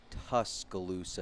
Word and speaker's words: Tuscaloosa: It's tuscaloosa is pronounced like the tusk of an elephant and then luca.